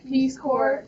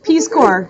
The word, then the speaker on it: Peace Corps: Peace Corps. All right, you guys. Peace Corps. The S is silent, just like some people in this video.